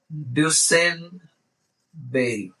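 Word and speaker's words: Duesenberry: ने दूसरे ने बोले तो आर को साइलेंट कर दो डसन और बोली को बोल दो बेरी तो आपका नाम बन जाएगा जेम्स डसन बेरी यह आदमी ने इसको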